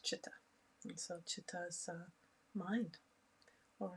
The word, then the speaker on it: chitta: chitta i recently learned it's pronounced not cheetah like we all say if you're familiar with the teachings in this area in sanskrit it's chitta and so chitta's mind